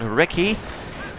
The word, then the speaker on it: recce: Panzer Grenadiers once more engaging the reconnaissance section, the recce, which is rather how the Brits say it, not recon, but recce.